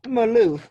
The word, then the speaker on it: Malouf: him to talk about as well so met Maloof am i pronouncing your name right yes millena thank you